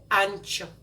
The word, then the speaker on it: ancho: You can substitute this with something that's called chile ancho.